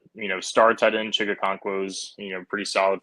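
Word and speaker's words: Okonkwo: And and uh, how do you pronounce that guy's name? Chick Chiga. Chicka Conquo. Chica Conquo, he's on the last year of his rookie deal.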